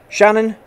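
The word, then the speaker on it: Seanan: I'm going to say her name right because it's spelled S-E-A-N-A-N, Shannon, but isn't it?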